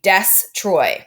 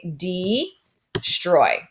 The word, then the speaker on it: destroy: strai excellent right so if I were to take this s and put it with my E that would become des and then the word would be desk troy which is not how we read that word we read the word right d-stroid so we have our first